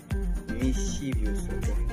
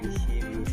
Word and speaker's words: mischievous: Et donc, maintenant, la sixième des choses ici, c'est le mot mischievous. Mischievous, on prononce mischievous.